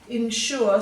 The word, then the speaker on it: ensure: g here there too ensure so the s here is making a sh sound and you've got another er ending there now let's have a